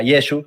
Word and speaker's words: Yeshua: judío es porque si yeshua que será su nombre aunque se pronunciaba yeshua tengo un video desde